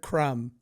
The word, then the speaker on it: crumb: is, my What Are You Nuts is the word crumb. Hear me out. It's a fucking dumb word. This is spelled stupidly.